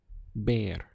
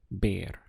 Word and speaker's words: ver: talk with you yesterday the verb to see in spanish is baer spelt v e r ber now it sounds like the english word bear and that's because this